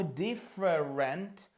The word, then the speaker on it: different: Так само different це не different, це знов таки два склади. diff і rent. Different. Different. Different.